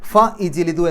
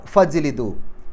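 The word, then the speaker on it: فَاجْلِدُوا: ഫ ഇജ്ലിദു എന്നല്ല പറയാം, ഫജ്ലിദു. ഫ കഴിഞ്ഞ് നേരെ ജീമ പറയാം.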